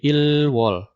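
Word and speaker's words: 일월: Maka istilah yang digunakan bukan Januari atau January, tapi angka 1 ini dibacanya adalah il, gitu kan? Maka dibacanya jadi ilwol.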